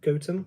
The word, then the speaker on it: Gotham: And then hilariously, there's a little village nearby here called Gotam, but it's spelled Gotham, but apparently locals pronounce it GOM.